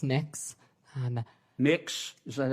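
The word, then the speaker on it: Mx: Cameron tell me what you're you're proposing it's pronounced mix um mix is that how you how would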